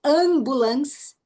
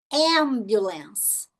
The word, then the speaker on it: ambulance: Então, se o M estiver no final da sílaba, a palavra que eu usei como exemplo, ambulance. Ó, ambulance. Não ambulance, ambulance. Ok? Então, M no final da sílaba, fecha a boca.